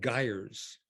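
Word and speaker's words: gyres: world's oceans they're called geyers and it's pronounced like tires and they're associated with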